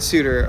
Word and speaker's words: suitor: finally put on indeed see it's supposed to be funny because shooter and suitor are supposed to be pronounced the same in Shakespeare's day shall we teach you